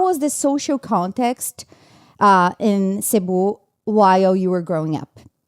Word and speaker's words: Cebu: I know that you were from the Philippines and you were from a city called Cebu. Is that how you pronounce?